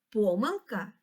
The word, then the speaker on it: помилка: дуже цікаве слово помилка у цьому слові два наголоси правильно буде сказати помилка і так само правильно сказати помилка і в